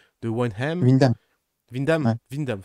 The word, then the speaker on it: Windham: Vindam, ça se prononce.